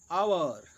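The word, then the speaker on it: hour: प्रयोग होता है, जैसे जिन शब्दों में एच साइलेंट रहता है उनसे पहले एन का प्रयोग होता है, जैसे एन आवर, an honest man, एन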